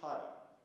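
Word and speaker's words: khara: That thing is pronounced Kara, K-H-A-R-A, simple, easy, and it is the flavor of chilies, you know, hot.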